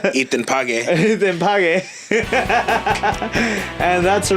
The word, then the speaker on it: Ethan Page: I mean, I said his name wrong. It's Ethan Page.